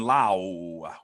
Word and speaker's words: Lau: the turn with Brandon Lau, that's the way I got to say it now because I get confused with the Lowe brothers, unless Sean's telling me that I'm mispronouncing his No, name again.